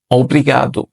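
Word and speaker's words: obrigado: লাগলো তো কাউকে ধন্যবাদ কিভাবে দিবেন ধন্যবাদ হচ্ছে অব্রিগাদো অব্রিগাদো অব্রিগাদ আপনি যদি একজন পুরুষ মানুষ হন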